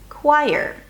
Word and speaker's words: choir: The ending is a Y sound, as in yes, a schwa, and an R. Yer. Yer. Choir.